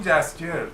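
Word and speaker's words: Jaskier: شما هم یاد بگیریم بگین جسکیر. درستش جسکیره. دندلایان یه اسم ساختگیه که توی ترجمه انگلیسیشه، یعنی توی هیچ کدوم از ترجمه‌هاش من بررسی کردم دندلایان نمیگه، فقط توی انگلیسیش میگه. اون جسکیر توی انگلیسی تلفظش سخته. جسکیر این سخته ولی برای ما راحته.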